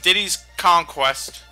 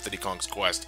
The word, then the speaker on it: Diddy's Kong Quest: Everyone and their grandmother always pronounced it as Diddy Kong's Quest. But nope, you're wrong. Everyone was wrong.